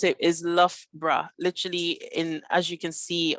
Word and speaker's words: Loughborough: But to pronounce it is Loughborough, literally as you can see on this middle text over here.